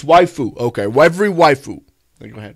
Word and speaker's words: waifu: Waifu, is that how you say it? Oh, it's waifu.